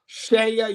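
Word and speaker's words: CEIA: shea usa so that's c-e-i-a that's how you spell it but it's pronounced shaya usa shea usa is the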